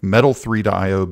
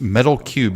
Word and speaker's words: Metal3: I was sure that it was already since it is metal cubed is actually how you pronounce it.